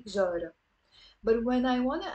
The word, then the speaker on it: جارة: You notice here the te marbuta is silent. I'm not pronouncing it. I don't say جارت, I say جارة.